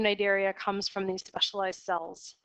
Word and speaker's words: Cnidaria: about the cnidarians on the C is silent pronounced pronounced innate area and this includes a pretty diverse group of organisms all of which which possess beta sites and so the name nidaria comes from these specialized